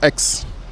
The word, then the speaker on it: X: magloire baume aux mavs précise 2 x en anglais x je prononcerai ex et ex c'est tout simplement l'abréviation